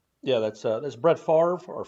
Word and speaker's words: Favre: show old dad yeah that's uh that's brett favre or fabre is he used to be uh pronounced uh back then uh yeah man that's